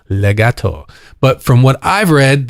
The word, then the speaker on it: legato: In fact, in its Italian pronunciation, the sound of the word is very similar to its meaning, legato.